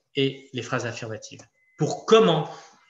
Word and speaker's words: comment: Alors, comment, c'est un petit peu la même difficulté que quand. Pourquoi ? Parce qu'on ne prononce jamais, normalement, le T, ni dans une question, ni dans une phrase affirmative.